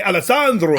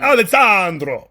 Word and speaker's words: Alessandro: nivola uh that's alessandro you gotta say alessandro alessandro alessandro novalda vidabar alessandro alessandro can you say like that alexandra elissa andro oh there you go okay yeah alessandro yeah that's good yeah that's good alessandra no no that that right there wasn't that wasn't good no no why not